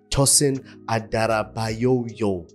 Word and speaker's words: Tosin Adarabioyo: Chelsea have opened the flat Gates of transfers tosen adoo that's how it's pronounced yes full names are crazy full names